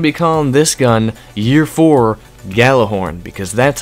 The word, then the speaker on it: Gjallarhorn: the gather horn or the yellow horn if you pronounce it that way you weirdo anyway we're going to become this gun year for Gjallarhorn because that's how you